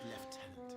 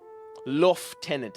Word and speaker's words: lieutenant: Flego as left tenant. Fleoff. What a name. What a second name. A lof tenant. L tenant. I I know I've heard it called L tenant before and it has screwed